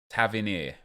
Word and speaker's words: Tavernier: Tavernier.